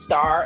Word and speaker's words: STAHHR: It's pronounced star, and the two H's that are there to differentiate me from the other stars, and also let you